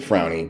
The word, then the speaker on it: Fraune: with my friend Charles frownie now Charles your last name is spelled f r a u n e and you pronounce it frownie but it looks like frown so we're bringing on